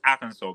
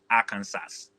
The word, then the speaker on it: Arkansas: Okay, pronunciation is Arkansas, but then if you want to pronounce it exactly as it is Arkansas.